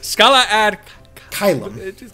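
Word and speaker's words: Scala ad Caelum: finding out like that the last world was Scala Ad Kalam, I think, or Kalam, or how it's pronounced. Yes, Scala Ad Kylum.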